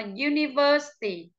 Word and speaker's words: university: vào trước âm đó, cho nên chúng ta đọc là university.